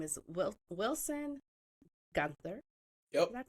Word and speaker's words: Guenther: I have a fellow adoptee and his name is Wil Wilson Gunther. Yep. Did I pronounce that right?